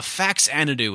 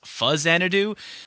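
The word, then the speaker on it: Faxanadu: Pokemon now we're keeping things going with a fax anido and yes I know it's actually pronounced fuzz anido but I grew up saying fax anido so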